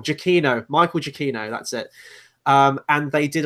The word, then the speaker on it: Giacchino: his surname camp now because how I've always pronounced it I'm wrong Jackie no Michael Jackie no that's it and they did a little teaser